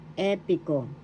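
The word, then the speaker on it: epiko: p third syllable ko the accent how you pronounce it is in the first syllable epico English epic and the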